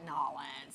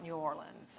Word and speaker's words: New Orleans: That's not a correct pronunciation of the locals. They say, don't call it Nolans. Yeah. Call it New Orleans or something like that.